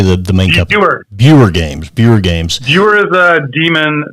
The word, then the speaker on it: Buer: Buer Games.